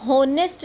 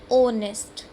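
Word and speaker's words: honest: क्योंकि इसको हम होनेस्ट नहीं बोलते हैं, ओनेस्ट। हमारा साउंड आ रहा है ओ से।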